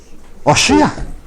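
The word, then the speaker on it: הושע: ¿Cómo se dice el nombre de Oseas en hebreo? Oshia.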